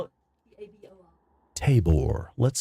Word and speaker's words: Tabor: Table. Who? Table. How do you spell it? T-A-B-O-R.